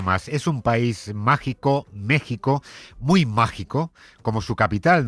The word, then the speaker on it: México: Se escribe con X, pero se pronuncia con J. Ese país que no existió hasta que llegaron los españoles según Ayuso. Mire, México no existió hasta que llegaron los españoles.